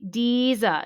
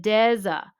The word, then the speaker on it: Deza: They say Deeza instead of Deza, just like the first syllable of a desert, like the Sahara, which is geologically a